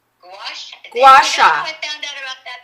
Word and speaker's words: Gua sha: How do you pronounce it? Gouache? Gua sha.